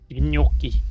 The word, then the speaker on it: gnocchi: Gnocchi. Gnocchi. Gnocchi. I said gnocchi. I think you are pronouncing it correctly, Paka.